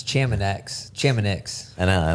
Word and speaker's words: Chamonix: Well, that's like saying we're going to be in No, I'm pronouncing. Leadville. I think everyone knew what I meant. It's Chamonix.